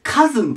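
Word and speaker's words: cousin: ねで次はもう読み方ですごく有名なやつですこれこれでカズンと言います発音がかずあの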